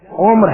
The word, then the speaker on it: عمر: pronunciation غلط کرتے ہیں، اس میں میم ساکن ہے، اس سے جزم ہے، عمر ہے لفظ، جسے زندگی کہا جاتا